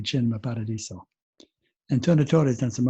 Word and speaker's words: Cinema Paradiso: pronounce c is ch so if you were pronouncing it in english it looks like cinema paradiso if you're telling me you say chin my paradiso antonio torre has done some other really nice